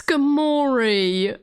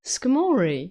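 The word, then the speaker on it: Skarmory: Oh no, it's Skamorei. Pronouncing Skamorei like Balamorei is insane. Wait, what do you mean? What do you mean? Is that how you say it? Skamori?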